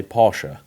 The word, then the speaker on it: Porsche: up here in short Porsche is basically how most people in the UK say it very few people here say Porsha I know Porsche is